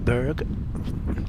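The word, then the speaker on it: Burgh: Braden uh Balboa Castle Borough Castle I always just call it Berg now it's it's spelled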